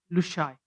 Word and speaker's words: Lushai: We call it in Mizo Lusei, which is normally pronounced as Lushai.